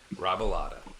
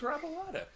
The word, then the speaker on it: Robilotta: Welcome, Robilotta. Did I say it right? I should Nailed have it. practiced. Really? Nailed it. Yeah, you actually did. Oh, wow. Robilotta.